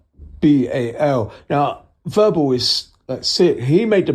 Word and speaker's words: Vherbal: Verbal is spelled VHERBAL. Now, Verbal is sick.